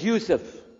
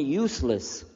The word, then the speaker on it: Yousef: Shalom my name is Yousef he say Yousef Nisa Houston you're very good I wish you teach my wife she keeps mispronouncing it she calls me useless home delenn now how